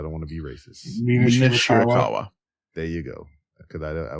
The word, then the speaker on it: Mina Shirakawa: Mina Shirakawa.